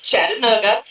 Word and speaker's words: Chattanooga: She had to type it out phonetically to me, and I said, no, honey, it is Chattanooga. I am from that area. That is how it's pronounced.